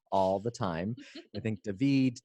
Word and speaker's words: Davide: I think Davide, it's Davide, actually for the Italian pronunciation.